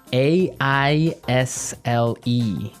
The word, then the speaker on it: aisle: spelled so strangely right we don't pronounce the S the S is silent it's true aisle so